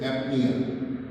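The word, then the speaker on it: apnoea: A P N O E A. Its pronunciation is apnea.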